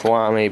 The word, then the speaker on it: Lamy: writes just like a Lamie like a Lamy Safari I know the actual I know the actual pronunciation is wamy but I see wamy but it would be